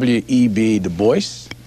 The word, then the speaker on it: Du Bois: David Ling Lewis web de Boyce yes he always insisted on that pronunciation uh he did not like the GAC